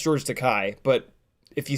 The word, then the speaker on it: Takei: It's called To Be Takei. I saw it in the theaters years ago. It's really, really good. If you're remotely a fan of actually, it's technically pronounced George Takei, but if you say George Takei, nobody will